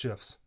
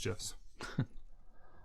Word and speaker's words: GIF: Gifts like animated pictures. No, because that's pronounced GIFs. Oh, like the peanut butter. Choosing mothers choose GIFs. And let me move that there.